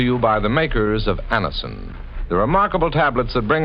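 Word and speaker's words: Anacin: Just ask for Anison at any drug counter. It's spelled N A C I N. And Annison.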